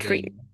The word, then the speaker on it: treating: Treating. But the way you pronounced it is a little bit like she.